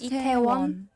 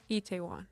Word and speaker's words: Itaewon: How is it pronounced? Itaewon. Itaewon. Yeah, Itaewon.